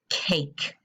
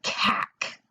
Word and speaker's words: cake: please write the word cake. You can pause the video. All right, so the word cake is spelled K-A-K. And there is a silent E on the end.